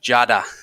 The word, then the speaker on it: Judda: It's that's the name that I've taken in America, but it's actually pronounced Judda. So that's why I'm just calling him Judda, like Star Wars.